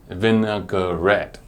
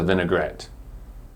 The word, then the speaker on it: vinaigrette: no and gar sound it is not pronounced vinaigrette vinegar red in the English word vinaigrette there is no vowel or letter between the G and the R so we won't say go red but we will say Gret the mnemonic for this